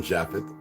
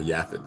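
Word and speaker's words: Japheth: No, they're from Japhet or Yaphet, however you want to pronounce it, by way of Gomer.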